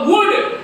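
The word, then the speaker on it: would: डब् ओ यू एल यहां पे एल का एल की आवाज नहीं निकलेगी ये क्या होगा वुड वुड एल साइलेंट है एल चुपचाप है बोलेगा नहीं वो ये क्या हो जाएगा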